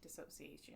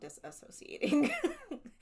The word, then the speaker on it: dissociation: So dissociation. Yeah. Not disassociating. She's not not associating with them anymore.